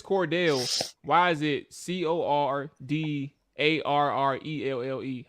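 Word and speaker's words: Cordarrelle: much as doggy is um i think it's cordell he keeps him corduroy he is cordelia he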